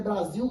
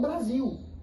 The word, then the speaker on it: Brasil: Nós falamos Brasil porque é um fenômeno linguístico. A a a a lateral L se transformar na vogal U. Bras, em vez de Brasil, Brasil, porque é mais fácil para pronunciar Brasil.